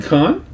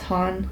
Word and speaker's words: Hahn: Isn't Khan? No, it's Hahn. Oh, I thought it was Khan. I know. Hahn? It rhymes with Khan, but her name is Kathryn Hahn.